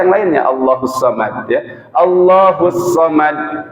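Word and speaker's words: الصمد: Allahus Samad pakai sa misalkan, bukan pakai sod. Allahus Samad harusnya sod, kita bacanya pakai sin misalkan. Artinya juga pasti beda.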